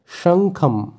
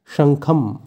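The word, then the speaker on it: শঙ্খং: অতি উচ্চস্বরে এরপর আছে শঙ্খম যেহেতু শুরুতে তালিবশ্য আছে তাই স এর উচ্চারণটা হবে শা সা কিন্তু নয় শঙ্খম তাই সংস্কৃতে অনক্ষরের জায়গায় ম এর উচ্চারণ হয় তাই শব্দটির উচ্চারণ হবে শঙ্খম এই শব্দের অর্থ শঙ্খ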